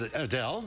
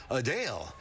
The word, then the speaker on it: Adele: While many pronounce it as Adele, the singer says it's actually Adele.